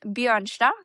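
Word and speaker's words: Bjørnstad: It's uh pronounced in Norwegian. Bjona.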